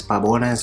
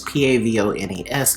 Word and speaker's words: Pavones: known as babones and i'm going to pronounce it as pabones because that's the way i'm seeing this is p-a-v-o-n-e-s i would look at that as babones or pavones if you like to pronounce your v's whatever so it comes